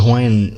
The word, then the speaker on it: Hawaii: And it's funny too, because in the Hawaiian, you know, to Hawaiians, right, it's pronounced Hawaii with a V sound, right?